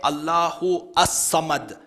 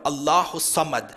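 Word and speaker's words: اللهُ الصَّمَد: is a drum and you don't say Allah who a summit you join it together Allah who summit so the alif laam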